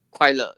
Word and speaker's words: 快乐: So in Mandarin is le, is you pronounce it as 快乐.